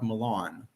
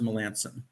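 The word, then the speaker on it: Melancon: he was in Boston we were told it was Mark Milan but I'm told that now the right pronunciation he prefers Melanson um that was the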